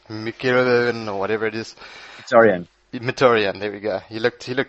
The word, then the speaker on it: Mkhitaryan: That new signing from United, I'm not going to try and pronounce his name, looked Mkhitaryan or whatever it is. Mkhitaryan, there we go.